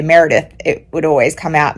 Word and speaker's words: Meredith: name Merith like you you elongate the a sound so when I say Meredith it doesn't always translate